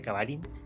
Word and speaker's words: Cavallin: escribe pero se pronuncia cavalín sea B corta dos L y n igual ponen